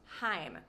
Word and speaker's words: Haim: And their band name is correctly pronounced Haim. If you've ever studied Hebrew, or if there's any Hebrew speakers here, you can tell me in the comments, please. It rhymes with l'chaim, which is like to your health or cheers in Hebrew.